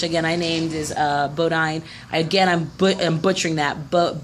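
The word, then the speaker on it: Bondye: I named is uh Bodine again I'm butchering that but b-o-n-d-y-e Bondi possibly is how you pronounce that uh they worship what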